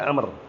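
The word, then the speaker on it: عمرو: Walaupun enggak kasih harakat orang bahasanya enggak akan ngomar bacanya. Dia bacanya pasti Amr. Bacanya tidak akan Umar karena langsung dipastikan Amr mafhum.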